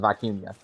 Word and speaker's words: vicuña: it vicuña, and then some people are like putting a y in there and calling it vicuña, and apparently that's actually the way you pronounce it is vicuña.